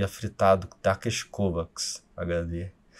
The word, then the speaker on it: Kovacs: O fim saindo com o K duro em vez do CH, ao estilo eslavo.